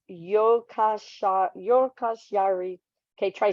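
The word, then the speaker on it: Jukkasjärvi: in the village of Joker charvi pronounced yokasha yokos Yari okay try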